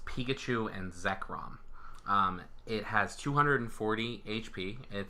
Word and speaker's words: Zekrom: the one that they showed is Pikachu and Zoey Ark I think that I'm pronouncing that correctly who knows right I'm terrible at pronouncing pokemons names it's not sober hour come apologize it's Pikachu and Zekrom it has 240 HP it is a an